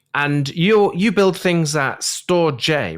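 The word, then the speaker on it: Storj: you you build things store J right yeah storage is that's how it's pronounced yes that's the first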